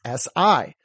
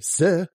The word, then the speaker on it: si: It's S-I. You don't say se, do you? No, you say si. Why? Because the I makes the long E sound.